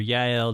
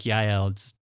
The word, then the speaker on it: Yael: He gets tired, goes into the tent of Jael or Yael, depending on how you pronounce it. I like Yael. It's a better name. It sounds a little better. In my mind, I don't know why, but it's a little smoother sounding, I guess.